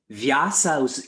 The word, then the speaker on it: Vyasa: play on words here vyasas is with a long a vyasa if you make that